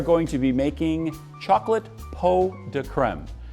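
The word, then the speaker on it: pots de crème: to be making chocolate peau de creme it's spelled pots de creme but it's actually pronounced peau de creme and it routes it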